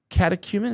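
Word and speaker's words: catechumen: Anyway, he also said, "I'm considering becoming an Orthodox Katakuman."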